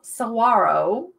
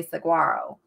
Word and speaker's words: saguaro: lisa is at 15 and the cute little saguaro see didn't pronounce the g i don't know it